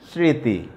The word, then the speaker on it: স্মৃতি: সেখানে আমরা নাকি স্বরে স্মরণ, শ্মশান, স্মৃতি, স্মারক, এই যে আমরা নাকে উচ্চারণ করতে হবে, অর্থাৎ নাকি স্বরের উচ্চারণ হবে, ক্লিয়ার।